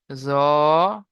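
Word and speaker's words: ظ: দুটো অক্ষরকে উচ্চারণ করার সময় মুখ গোল হয়ে যাবে, আর দুটো অক্ষরকে একালি করে টান দিতে হবে।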